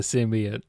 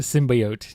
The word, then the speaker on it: symbiote: The symbiote. Not the symbiot. This is not the original cut of the Venom movie. Got to say it correctly. I am saying it correctly. No, they said sim symbiote. Symbiote originally, I think.